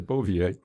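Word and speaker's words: Bouvier: his last name was is it bovier is that's why he pronounced it okay beauvier and they had a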